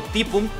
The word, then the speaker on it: Typhoon: Pronunciado Typhoon, que es uno de los Grandmaster de Corea que ha participado en los torneos oficiales, ¿vale?